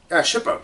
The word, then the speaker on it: Shippo: It's about Shippo. Or Chippo. I can't remember how you say his name. What's his... Shippo. Yeah, it's an S.